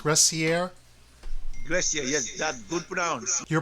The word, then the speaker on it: Gressier: how do you spell that G oh gracier is that how it's pronounced gracier yes that good pronouns your primary language is